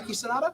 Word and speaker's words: Hiroki Sanada: Who has the amazing Hiroki Sanada. I think that's how you pronounce his name. He was in the Wolverine, Avengers Endgame. Did I say that name right? Hiroki Sanada?